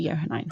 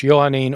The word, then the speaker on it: Johannine: I don't think it's supposed to be Johannine. It's pronounced both ways. It's pronounced Johannine or Johannine.